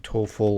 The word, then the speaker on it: TOEFL: or TOEFL score, and we want to write TOEFL like toe.